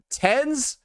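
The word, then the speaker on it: TenZ: Like, tens, when he has 10 and then a capitalized Z, makes no fucking sense.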